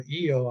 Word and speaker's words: Io: case I it's pronounced her name is Io or Eio I don't know IO I guess is the English pronunciation just just two letters io and uh